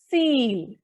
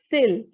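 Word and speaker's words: cil: The I is coming in between a word, so the pronunciation will be seal. Seal, not sill. It's seal.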